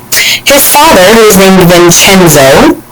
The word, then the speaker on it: Vincenzo: His father, who was named Vincenzo, in Italian that C is pronounced like a CH, so Vincenzo was a musician, and as a musician he didn't make a whole lot of money.